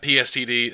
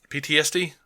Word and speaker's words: PTSD: camp comes back and got pstd uh pstd really bad and uh PTSD is that PTSD yep so I knew I kept saying it wrong and uh dude he